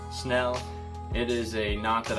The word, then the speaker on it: Snell: called the Snell Knot pronounced like spell except with an N Snell it is a knot